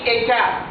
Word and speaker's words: État: Ici on dit État. On ne dit pas État, c'est pas État, non. La lettre T ne se prononce pas ici.